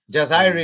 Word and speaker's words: Jazire: in jazire in Algeria in jazire jazire is is how it's pronounced and you've got the